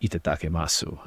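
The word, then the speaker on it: いただきます: In Japan, there's a word called that I believe it's pronounced itatakemasu, and it was described to me as a saying that's commonly used like right before eating.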